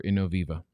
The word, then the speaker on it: Innoviva: past five years for innoviva 133 to 336. check mark there is it in novi i can't pronounce this stuff you know it's innoviva innoviva you thanks bro um